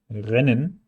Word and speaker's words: Rennen: Rennen has a very short E, because there's a double N, there could be a double M, a double L, and so on. Double consonants are written when the sound is short.